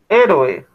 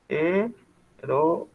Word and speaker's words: héroe: Héroe. Héroe. Ojo, no se dice héroe, se dice héroe. ¿Listo? Y son 3 sílabas.